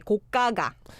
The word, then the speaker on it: 고가가: Yeah, but the trick here is that you need to pronounce the second one as the double consonant. So you say 고가가.